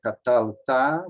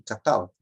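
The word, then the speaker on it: קָטַלְתָּ: Porque, senão, se você fizer catalta, vai ter que ter outras modificações. Então, a sílaba forte é essa aqui, catalta. Catalta. Catalta é paroxítona.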